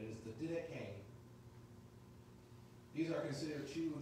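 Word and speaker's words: Didache: it is pronounced the decay the e at the end is not silent apparently it has an a sound to it it is the d k these are considered two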